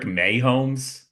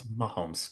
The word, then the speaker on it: Mahomes: It was blatant what Patrick Mayomes. It's one of your wonder Mahomes. What's with Mayomes? May it's Mahomes.